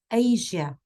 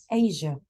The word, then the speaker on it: Asia: Can you please pronounce the word or the name Asia? So it's not, you tend to emphasize on the sh sound. It's not sh. It's a mixture in between j and sh, between them. Asia.